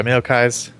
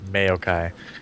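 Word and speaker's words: Maokai: so pretty standard by meai people people have been giving me crap about saying that mayai maai say it like kitty cat meow okay meow okay meow no anyways um I'm curious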